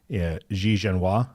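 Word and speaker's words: Xie Zhenhua: working with his counterparty XI jenoa is how you would say it right sh sha uh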